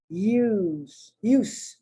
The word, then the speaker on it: use: And there the S is pronounced like an S, use.